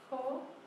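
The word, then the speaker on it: 口: So the first one is mouth, pronounced ko. So it's horse's mouth? No. So ko sounds like cold, Yeah.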